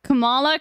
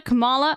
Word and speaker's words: Kamala: I say it the way they say it Kamala Kamala I have noidea against kamla